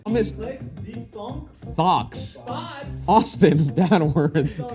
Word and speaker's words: thock: on this- Clicks, deep thunks, Thocks. thoughts. Austin, bad word. Spell it for me.